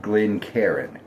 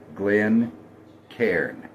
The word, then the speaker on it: Glencairn: And on a Glencairn glass, not Glencairn, Glencairn, 2 syllables.